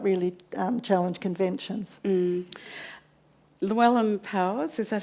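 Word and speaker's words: Llewellyn Powys: Llewellyn Powers, is that how I say his name?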